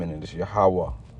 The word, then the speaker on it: Yahweh: You see, but we know, all right, the true pronunciation of the Heavenly Father's name, and it is Yahweh. Yahweh.